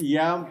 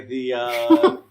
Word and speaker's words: ye: Yeah, we'll have to stop by the Ye Olde Payless. So I've actually learned recently that ye is a mispronunciation. It's supposed to be the. Yes.